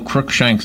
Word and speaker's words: Crookshank: The one thing I don't know is how to say Colonel Crookshank's name. Am I saying it right, Crookshank? You said it perfect.